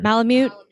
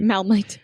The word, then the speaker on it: Malamute: Malamute. Malamute. Malmite.